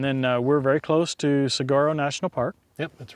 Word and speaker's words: Saguaro: All right, well, it's pronounced Saguaro. Saguaro, no G. So the G is like a W.